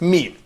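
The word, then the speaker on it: ميم: And as everyone knows, that meme is described as a nasal sound and a nasal letter. But that means if you'd like to pronounce meme, it could be very close to M in English.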